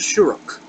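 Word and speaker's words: שורוק: Our next letter is a long E, long U, and it's the shuruk.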